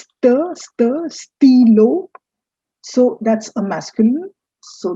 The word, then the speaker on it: stylo: It's not stylo it's stilo.